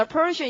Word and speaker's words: apparition: apparition. 자, apparition. 이때도 R 발음은 잘 해보시죠. apparition. R 넣어서요.